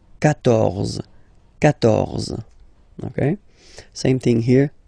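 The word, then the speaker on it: quatorze: Then here, 14, so remember Q and U here, well basically you've got to put this U vowel, because that's the rule in French, even if you don't pronounce it, okay, so you will get the sound K here, K, 14, 14, okay,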